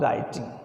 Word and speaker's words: writing: और राइटिंग, राइटिंग में डब्ल्यू क्या रहता है बेटा? साइलेंट, और साइलेंट वर्ड इसके अंदर आता नहीं।